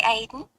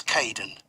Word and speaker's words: Kaden: Hi Aiden. It's Kaden.